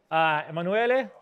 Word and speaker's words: Emanuele: But who I am very, very quickly, Emanuele, that's how it's pronounced, Italian, working in Switzerland.